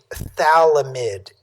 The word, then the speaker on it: phthalimide: one this is a thalamid anion we don't pronounce the uh the pH part you just pronounce it